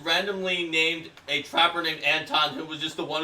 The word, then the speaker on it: Anton: Yeah, Anton the Trapper, pronounced Anton, is a Breivik trapper, and he is also